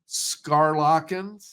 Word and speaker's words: Schaerlaeckens: year we've got scarlin I believe it's the pronunciation of the last name hotels for trees and welcome to click connect how are you uh thanks for having me Greg I'm doing just fine and you pronounced my name just perfectly it's a it's a